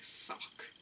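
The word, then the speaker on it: Sawk: um i do think sork's name is quite funny because like when you if you pronounce it how they pronounce it in the anime it's like suck suck and it just makes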